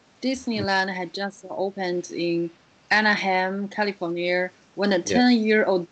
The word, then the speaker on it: Anaheim: Yes, you pronounce this word Anaheim.